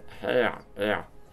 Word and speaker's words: heir: Had been hired by the Duke of Orleans to kill the royal family, including the princess, as heir. You don't pronounce the H.